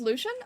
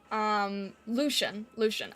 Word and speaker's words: Lucian: Not trying to be rude, it's pronounced Lucian? Oh, okay, okay. Sorry, I'm not, like... I've had people tell me, like, how their name is pronounced, and, I can't always remember, so I do apologize, but I will try. Lucian. Okay, I think I can do that.